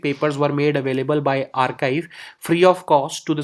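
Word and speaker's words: arXiv: let us see the next topic which is archive so you may be seeing that this is a rxivrxif but x is being pronounced here as key so that it this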